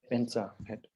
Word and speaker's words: vajra: Изначально там вообще слово Ваджа, но на тибетском это Бенза. And the longer mantra is Om Buddha Dhammara Buddha Adipati Akshapikiricana Sava Buddha Chata Bishitsana Sadaya Humpe.